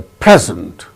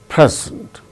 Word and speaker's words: present: chief guest presented a present so when it is used as noun it is present that is used as verb present second syllable gains stress now let us come